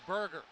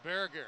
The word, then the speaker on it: Berger: Erica bear gear spelled the American ionization of that of that name is Burger but I've heard about three different uh pronunciations I'm going with Berger after checking with the Swedish contingent of the line Wagner